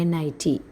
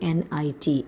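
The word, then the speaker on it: knit: another example nit k n i t k n i t nit there you can see that K is silent yes K is silent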